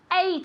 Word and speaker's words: ate: come come very good in the past eight eight very good exactly the same as which number number eight oo okay so remember